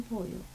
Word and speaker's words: pollo: Arroz con pollo. And pollo has a double L. Pollo. It sounds like a Y, but it's two L's.